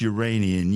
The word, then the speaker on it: Uranian: nearly a quarter of each Uranian year and yes that's how you say it the sun shines over